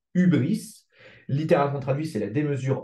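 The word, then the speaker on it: hybris: un mot grec alors je sais ça s'écrit hybrice mais ça se dit ubris littéralement traduit c'est la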